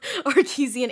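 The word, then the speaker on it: Archesian: also has Bryce's um I always mess up how you say it but it's Artesian Artesian thank you Artesian amulet which I totally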